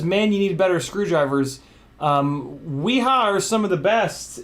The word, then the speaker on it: Wiha: Wiha, actually, is how you pronounce it.